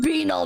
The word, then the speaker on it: banal: ungovernable that being said I didn't know there were other pronunciations of banal I be this is British propaganda fro just gets to thank you it's okay you can prefer banel you're saying it right screw chat fragile sounds